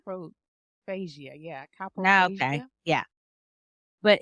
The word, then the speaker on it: coprophagia: because I'm going to botch it up by pronouncing it, but it's COPROPHAGIA. Coprophagia?